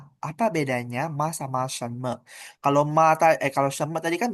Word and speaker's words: 什么: Ini me-nya tidak ada nada ya, ingat ya. Shenme. Jadi lebih cepat bacanya me.